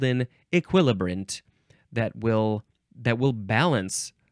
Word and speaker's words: equilibrant: last word is equilibrant equilibrant you can also say e still emphasizing the second syllable equilibrant you can also say equilibrant equilibrant spelled e q